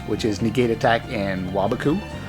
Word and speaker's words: Waboku: is negate attack and wabaku or some people like to pronounce it waboku but that's wrong you can play draining